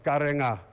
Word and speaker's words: Karenga: Your pronunciation is better, Karenga. Because they wrote NG, Nga for me it's written as Nga.